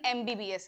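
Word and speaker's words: MBBS: इस वर्ड को कैसे प्रोनाउंस करते हैं? यह वर्ड है एम बी बी S. Sound ई का बन रहा है।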